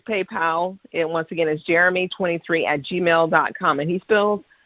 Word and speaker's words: Jheramie: can follow me by my email address uh jeremy now it doesn't look different my mom i